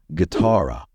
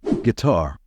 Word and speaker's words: guitar: to pronounce this one this word derives from the Spanish word Gara so its pronunciation doesn't follow the regular rules of English word pronunciation in this case the stress should be on the second syllable so don't say gar say guitar you're the singing guitar